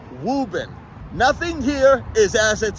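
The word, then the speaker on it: Woburn: on the top right there it is not pronounced wo bur not wo bur wurn it's wubben that one right there is getting changed within the next year I've been promised to w b i n wuben nothing here is as it seems in massach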